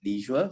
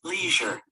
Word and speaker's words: leisure: the next one is Leisure so there are two distinct pronunciations for the same word it's a matter of the British and American pronunciation and both are right so the most important